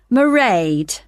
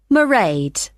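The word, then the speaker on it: Mairead: be working then so you'll see my assistant marade sorry how do you you spell that it's m a i r e a d marade okay got that it's not a name I'm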